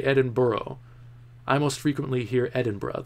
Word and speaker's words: Edinburgh: knowledge Edinburgh Edinburgh Edinburgh I feel more comfortable saying Edinburgh that's the way it looks like it's spelled to me so I might go Edinboro if I can Jack you